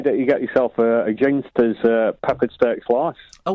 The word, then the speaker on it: Ginsters: Ginsters or ginsters? It's ginsters, obviously.